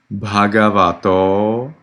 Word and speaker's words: Bhagavato: The vowel at the end of Namo and then Bhagavato and Arahato is actually long, and it needs to be clear from your pronunciation. Namo tassa Bhagavato Arahato Samma Sambuddhassa.